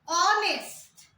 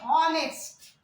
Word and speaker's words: honest: Or if you see honest, another one, honest. We don't say say honest. He is an honest man. Why not a? Because here also H sound is silent.